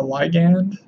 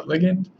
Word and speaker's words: ligand: And so EDTA is what we call a ligand, or ligand, depending on how you pronounce it, and it is a what we call multidentate.